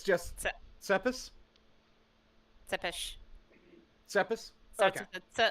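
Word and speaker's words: Țepeș: Because I know that you said it was a TS sound, and then it went to almost a Y sound after. So it's just Tsepis? Tsepish.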